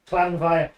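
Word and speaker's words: Llanfair: Clan fair is pronounced clanv.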